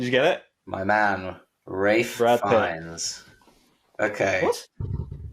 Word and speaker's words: Ralph: Is it Ralph Fiennes or is it Ray Fiennes? I mean, it's it's spelled Ralph. Is it Sean Bean He or is it says Sean? Rafe.